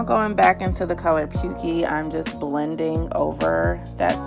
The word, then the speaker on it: pukey: I'm using here is called pukey I think that's how you pronounce a PU K ey and the next shade